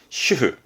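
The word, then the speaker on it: 主婦: 발음은 슈흐.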